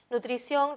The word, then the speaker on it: nutrición: ese no se tildan nutrición reconozco la sílaba tónica es la última es la que suena más nutrición y termina en n